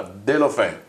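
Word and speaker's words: Deulofeu: Ocampos e a destra il francese, come si pronuncia? Delofè.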